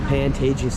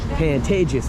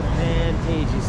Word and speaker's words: Pantages: Some people say Pantages, which I think is the correct way to pronounce it.